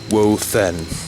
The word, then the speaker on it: Woðen: So as I have here written on the screen, Woden, it's technically pronounced Woe-th-en with a th. Because it looks like a D, you can pronounce it as Woden, and sometimes I just use the High German Wotan.